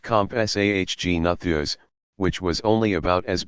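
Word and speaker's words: Compsognathus: the smallest of them may have SOG natha's pronounced compás AHG nathers which was only about as big as a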